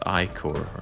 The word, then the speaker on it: ichor: And it's pronounced Icor, right?